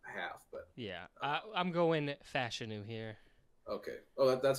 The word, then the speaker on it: Fashanu: But yeah, I'm going Fashanu here.